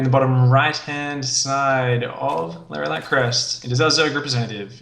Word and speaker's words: Lerilak Crest: LERILAK CREST. How do you say that? LERILAK? I say it exactly the way you said it the first time. LERILAK CREST.